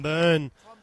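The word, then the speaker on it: Byrne: tom yeah of course that's uh tom burn b-y-r-n-e tom burn the listeners don't know how to know it's spelt differently t-o-m is the tom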